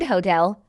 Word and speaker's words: hotel: English speakers place the stress on the second syllable in the word hotel, apple, doctor, and water are all tracheic, meaning the stress falls heavily on the first syllable.